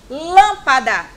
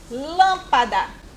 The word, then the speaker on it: lâmpada: Lâmpada. Lâmpada. Olha como o lã é falado com mais força. Lâmpada.